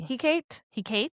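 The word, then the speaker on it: Hecate: He Kate, I don't know.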